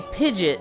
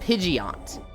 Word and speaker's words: Pidgeot: I would always say pigeet and everyone else said pidgeot and I was like you were putting too much emphasis on the e o that sounds very unnatural.